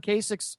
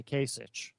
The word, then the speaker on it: Kasich: He even pronounced Ohio Governor John Kasich's surname correctly. So a lot of people mispronounce it and say Kasich. It's Kasich.